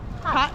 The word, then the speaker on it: 팥: Pat. 팥. 팥. Yeah, like pat.